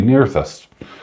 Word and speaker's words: Nerthus: It's 2 ounce, and it'll mention that it's Goddess Nerthus. Or if you're in America, it'll be Nerthus. Yep, it's pronounced both ways, remarkably.